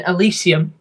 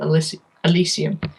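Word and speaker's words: Elysium: it definitely better than alysium you mean alysium or how or elium however you pronounce El alysium I think I think that's actually how you pronounce it El alysium um it's it's better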